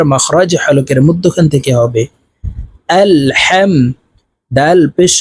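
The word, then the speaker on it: الحمد: জবর হাম আল হাম এই হাকের মধ্যখান থেকে উচ্চারণ হবে কারণ হার মাখরাজ হলুকের মধ্যখান থেকে হবে আলহাম দাল পেশ দু আলহামদু লাম লাম জের লিল লাম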